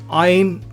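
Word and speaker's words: ע: Ain also is used in the same way, except with a nasal sound. Again, those are old sounds. For now, we can simply treat them as silent, and if there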